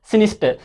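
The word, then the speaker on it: sinister: Dear student, इस सिनिस्टर, इस रे का प्रोनाउंसिएशन नहीं करते, इस आर का प्रोनाउंसिएशन नहीं करते हैं, इससे बोलते हैं सिनिस्टर।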